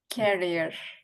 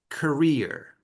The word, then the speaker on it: career: pronounce this one carrier carrier um it it sounds like you're putting emphasis on this syllable so say career career I can use